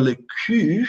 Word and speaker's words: cul: Esse L não é pronunciado, tá, gente? E aí você tem esse som do U. Lembram do som do U? Aí você vai dizer, se você disser le cul, você está dizendo a